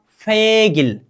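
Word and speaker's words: 백일: ठीक है, ओरिजिनल उच्चारण का मतलब ए ग + ई, क्या, गी, र नीचे आ जाने पर क्या होगा, ल। उच्चारण क्या होगा, फेगिल।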